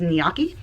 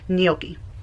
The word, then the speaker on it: gnocchi: I know she says gnocchi, but the proper pronunciation is gnocchi.